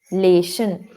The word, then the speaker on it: calculation: Calculation. Not sun. It's shun. Sh. Sh.